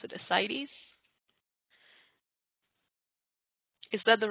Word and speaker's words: ascites: And I have seen it being given, I don't know how to pronounce it, ascites. Is that the right way to pronounce it, Monica G. Andrew? Ascites?